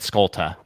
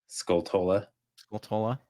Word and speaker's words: Skulltula: I always just said Skulta. I don't know why. I just completely skipped half the word.